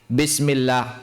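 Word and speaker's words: بسم الله الرحمن الرحيم: Bismillahirrahmanirrahim. Bukan bismillah, tapi bismillah. Oke, ba. Dengan merapatkan bibir. Bibir harus dirapatkan dan diucapkan secara alami.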